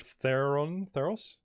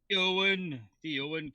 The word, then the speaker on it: Theowen: Mr. Theron, the hard-hearted. Theowen, come on, get it right.